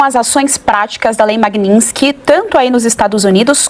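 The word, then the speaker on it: Magnitsky: lei Dr Ricardo é a lei se chama magnin ela é magnin Ela Vem de um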